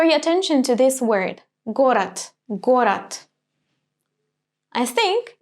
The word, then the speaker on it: город: I write it with d, город, but I do not pronounce it like this, город. I'm actually saying the t sound here, город.